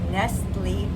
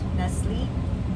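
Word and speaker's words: Nestlé: Now, normally we might see this as Nestle, the chocolate. But there's no accent on the e and the t is silent because that's nestly chocolate nestly. But this is nestle.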